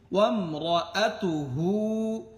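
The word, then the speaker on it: وَامْرَأَتُهُ: warm র আতু হু এখানে যদি আমি ওয়াকফ না করি তাহলে আমার উচ্চারণটা হবে ওয়াম র আতু হু এই হুর মধ্যে টান দিতে হবে আর যদি এখানে ওয়াকফ করি তাহলে কি হবে ওয়াম র আতু এমন হবে এরপরে হা মিম জবর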